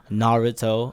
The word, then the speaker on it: Naruto: So I dressed as Naruto, or let me say it correctly, Naruto, only because I bought it at Shinobi Zato in Japan.